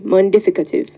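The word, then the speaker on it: mundificative: f i c a t i v e montificative correct Jonathan your word is henotheism please may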